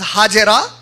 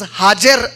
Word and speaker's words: Hajar: Many Muslims, they generally pronounce it as Hajera. The name of the wife of Ibrahim alayhi salam is not Hajera, it is Hajar alayhi salam.